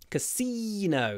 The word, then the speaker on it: casino: works in a casino Casino try to get the Y casino and remember it's no at the end it's not no Casino Casino Casino the